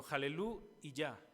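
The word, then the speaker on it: הללו יה: La palabra aleluya es una transliteración simplemente de 2 palabras hebreas, jalel, bueno, jalelú y ya.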